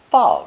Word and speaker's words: 法: When used to transliterate the name of France, this character is often fourth tone, 法国.